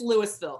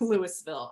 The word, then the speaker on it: Louisville: For some reason, it's Louisville, spelled the same way, but Yeah. pronounced Louisville. I don't Okay.